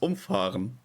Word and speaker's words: umfahren: Where the only difference is how you pronounce umfahren. Umfahren, umfahren.